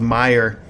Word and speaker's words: Meijer: It's called Meijer. It's spelled uh m e i j e r, strangely enough. m e i j e r, Meijer.